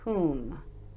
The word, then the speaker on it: whom: But the O is actually making an oo sound instead of an O sound here. And this is pronounced whom. Whom. Like to whom are you speaking?